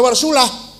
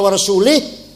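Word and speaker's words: وَرَسُولُهُ: Salah bacanya harus waallaha barium minal musyrikina rasulah. Allah tidak melindungi orang musyrik dan Rasulullah pun tidak melindungi orang musyrik. Baca warasulah. Kalau warasulih Allah tidak melindungi orang musyrik dan tidak melindungi Rasulullah.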